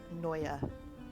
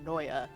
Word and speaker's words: Noya: just to scare them say that name again noya can you spell that name maddie n-o-y-a there you go oh